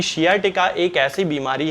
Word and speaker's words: sciatica: है, तब उसके कारण शियाटिका नाम की एक बीमारी हो जाती है जिसे कि साइटिका बहुत सारे लोग कहते हैं, हालांकि इसका सही प्रोनाउंसिएशन जो है वो शियाटिका होता है।